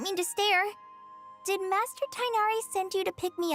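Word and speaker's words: Tighnari: Does that mean Tignari or Tinari as they pronounce it?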